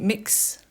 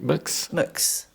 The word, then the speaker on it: Mx: Is it mix? Right, mux. Mux, sorry.